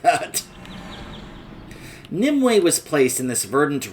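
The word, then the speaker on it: Nymue: Now, I thought this boss's name was pronounced, like, Nimu or Naimu. Then I heard and was told that it's actually pronounced Nimue.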